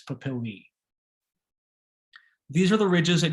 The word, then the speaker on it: papillae: dermal papilla or pleural papillae a e in latin is pronounced e and that's plural if it's sin if you're referring to one it's a papilla if you're referring to many it's papillae these are the ridges